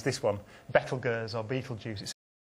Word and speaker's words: Betelgeuse: gears or beetle juices as for myself I choose beetle because be ete l a mild stimulant used in eastern asia is and always has been pronounced beetle in english I choose juice rather than Jews because I don't want to sound anti-semitic it's really that simple